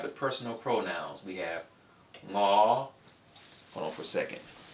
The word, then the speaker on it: 我: We have ngõ. Hold on for a second. Okay, so here we have ngõ. Ngõ is an NG sound, right?